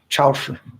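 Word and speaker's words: 超市: Chaoshi. That's how you say it in Chinese.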